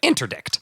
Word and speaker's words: interdict: opposition to nazification Bon offer urged for an interdict interdict yeah yeah interdict that's how you pronounce that an interdict to stop offering all